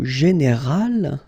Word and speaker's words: général: Okay, but then phonetically it's quite interesting because you don't make any difference. You will get so général at the masculine form, and it will be